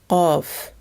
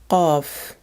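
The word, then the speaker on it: ق: This is a sound that does not exist in English. Let's imagine you try to pronounce the word cuff, but while doing so, you block the entry of your throat.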